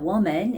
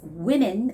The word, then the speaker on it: women: And also it's not woman, it's women, women's with an E sound there.